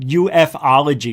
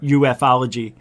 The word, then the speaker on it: ufology: Guys, let me tell you something about ufology. He says it ufology, which it's ufology, by the way, in case you said it wrong.